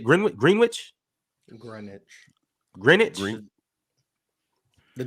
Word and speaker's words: Greenwich: ever Super Chat from grenwich London that's how you say it green green Wich Greenwich Greenwich the W